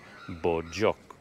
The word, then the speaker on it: Bogyoke: One thing I learned is that I've been saying Bogyoke wrong all this time. It's not Bogyoke. The woman who sold me the ticket told me it's pronounced Bogyoke.